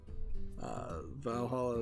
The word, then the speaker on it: VA-11 Hall-A: Valhalla is spelled VA-11 Hall-A.